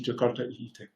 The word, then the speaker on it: Jakarta: have to test your why do I still say joy in Italian it's supposed to be jakota my apologies have made